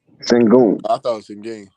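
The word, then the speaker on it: Şengün: Sometimes you look at it in English, but it's not pronounced the way that you see it. It's Alperin Sangoon. Sangoon.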